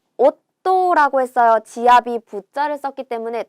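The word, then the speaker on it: 夫: 만약에 여기에다가 여동생을 나타내는 이 한자를 써서 요게 한꺼번에가 되면 자매라고 해서 시마이라고 읽어주시면 됩니다. 시마이는 자매, 음독으로 읽은 거죠. 자, 오또라고 했어요.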